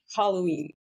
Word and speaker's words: Halloween: Non, on met un déterminant. Oui. D'accord. Puis, Halloween. Voilà. On sent le H aspiré à mort.